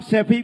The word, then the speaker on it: सैफई: सैफई तो बोलना सीख जाओ, सफाई नहीं है, सैफई है।